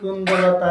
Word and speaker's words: কুন্দলতা: এবং এনার সম্বন্ধে, পৌর্ণমাসী সম্বন্ধে যেমন বলে না, পৌর্ণমাসী কুন্দলতা জয় বীরাবিন্দ, অনেকে ওই জায়গাটা একটু অন্যরকম বলে, কিন্তু ওর আসল উচ্চারণ হলো পৌর্ণমাসী কুন্দলতা। কুন্দ পয়রস্যু দন্তার নয়, কুন্দলতা।